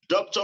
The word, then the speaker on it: doctor: according to phonological rule doctor must be stressed on as duck thought the first syllable given stress not Doctrine balloon